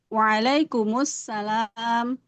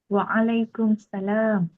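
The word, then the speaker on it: وعليكم السلام: Kenapa kita enggak boleh bilang waalaikumsalam? Masih ingat alasannya apa? Ana alif syams H. Alif lam syamsiyah sahih. Alif lam syamsiyahnya kenapa? Hi. Tidak jelas. Heeh. Lamnya tidak jelas. Betul. Alif lam syamsiahnya jadi hilang kalau kita baca waalaikumsalam.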